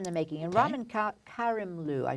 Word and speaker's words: Karimloo: a star in the making and Robin cop Karimloo I said it wrong before for what we